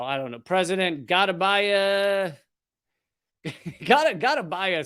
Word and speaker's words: Gotabaya: Gotabaya sounds like, you know, what you have to do on an anniversary. All right, I get it. I gotta buy you a gift. Okay, President Gotabaya Rajapaksa fled his residence.